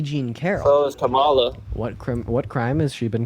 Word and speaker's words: Kamala: And then secondly, when she was running for her name is pronounced Kamala. Her name is pronounced Kamala.